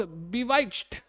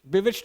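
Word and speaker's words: bewitched: शी वॉज बिवाइच्ड, बिविच्ड बाय her beauty. बिविच्ड इसका correct pronunciation होगा।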